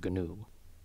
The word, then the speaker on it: GNU: That's new as in the wildebeest, not the free software thing, which has a hard G, as in GNU.